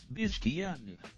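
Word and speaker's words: Pezeshkian: Uh, how do you pronounce that? Biscan. Piskan. Piscian.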